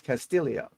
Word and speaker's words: Castillo: four under Ricky Castillio it's not Castillo it's Castillo just so you know it's spelled Castillo but it's Castillio four three under Bud